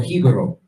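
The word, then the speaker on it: Jíbaro: Like, and what you're gonna see is that there's certain things, like, for example, Hibaro, or Hibaro is the real pronunciation of it. That's what they called the Tainos who fled into the mountains in order to hide from the Spanish.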